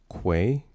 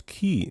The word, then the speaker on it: quay: It's pronounced quay. Uh, say it with me now with a Q. Quay. Quay. Yeah. One more time. Quay, not key. I don't know who says key.